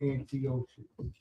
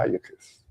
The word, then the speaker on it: Antiochus: Antiochus. Antiochus. Antiochus. That one you just. Antiochus is closer because it has a CH.